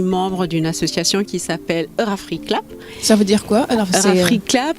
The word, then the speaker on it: Eurafriclap: Eurafriclap, c'est très simple. Ça s'écrit E-U-R-A-F-R-I-C-L-A-P. Eurafriclap, le clap comme le cinéma.